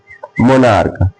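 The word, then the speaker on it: monarch: जैसे मोनार्क क्या है?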